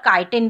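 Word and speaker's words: chitin: This material is known as किटिन और काइटिन भी इसको बोलते हैं, चिटिन और काइटिन. इट is spelt differently, pronounce differently. इसको चिटिन भी बोलते हैं और काइटिन भी बोलते हैं.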